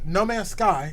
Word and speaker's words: No Man's Sky: playing what are you playing now jck uh no man's sky is the correct uh pronunciation of the title okay okay we'll definitely